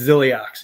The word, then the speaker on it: Zilliox: And by the way, Iceman, it's Zilliox.